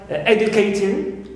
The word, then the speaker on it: educating: Also, we have ing of the gerund, clear, of the gerund, like educating, as usual we stress always a, clear, first syllable, and not ting, which is neutral.